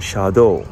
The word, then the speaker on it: 車道: Shadow when you combine those two kanji it's pronounced Shadow which means roadway you're going to hear that in the news a lot Shadow okay and the other two words that you